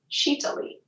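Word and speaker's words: Sitali: called sheeta libra and it's spelled s-i-t-a-l-i and it's pronounced chita-li and what it does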